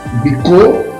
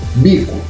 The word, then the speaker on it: bico: A segunda palavra, eu leio bicô ou bico. Isso, bico.